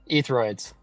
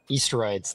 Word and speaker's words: Easteroids: Etheroids. Etheroids. I can never remember this. Easteroids. There we go. That's how you say it. Easteroids. Easteroids. Okay. It's like asteroids, but Easteroids.